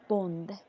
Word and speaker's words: bond: So Born? yeah, bond, What can you spell it?